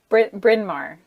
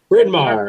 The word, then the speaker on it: Bryn Mawr: Outlet based here in Maine a graduate of Brian Mar in Columbia University did I say that right Brian Mar I always confused on how to pronounce that college name Bryn Mawr Bryn Mawr okay graduate of Bryn Mawr and Columbia University